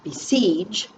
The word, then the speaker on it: besiege: word which is besiege we say the word besiege siege is stressed harder so we circle and